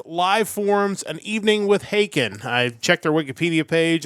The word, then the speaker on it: Haken: They are Haken, and their new album is Live Forms, An Evening with Haken.